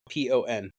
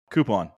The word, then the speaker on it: coupon: COUPON. Coupon. Big Cat. Coupon. Dave. Coupon. Mike. Coupon. No, it is not coupon. It is coupon. There's no Q.